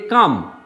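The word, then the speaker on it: calm: সেমভাবে এই যে কাম অর্থাৎ এল এর আগে এ আর পরে একটা কনসোনেন্ট।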